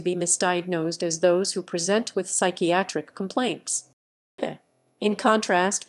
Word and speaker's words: present: professional it is usually used as a verb present with emphasis on the second syllable and is often accompanied